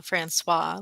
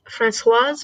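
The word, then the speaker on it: Françoise: the I was just Francoise because there's the e at the end but oh okay anyway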